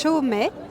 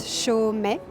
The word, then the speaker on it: Chaumet: It's Chaumet. So it's pronounced really easily. It's Chaumet.